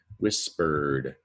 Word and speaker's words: whispered: And one of them is you just hear a D sound, as though whispered is spelled like this, whispered. But it's an ED, and so remember that sometimes ED only says D.